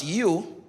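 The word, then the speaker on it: ewe: Kung gusto niyo naman ng babae is E-W-E pero pronounced as you, yun naman yung babaeng matandang sheep.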